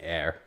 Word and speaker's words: AER: I don't know what AER stands for, or if you're supposed to pronounce it air. It is Air.